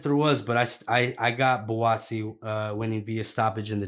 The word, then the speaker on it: Buatsi: Yeah, Buatsi.